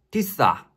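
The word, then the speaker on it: تسعة: 구는 우리가 쓰는 구의 모습과 비슷합니다 구 아랍어 발음으로는 티사 티사 그럼 초반에 보여드린 이집트 차량 번호판을 같이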